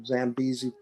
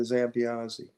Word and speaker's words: Zambiasi: So it went from Zambiasi to Zambiasi.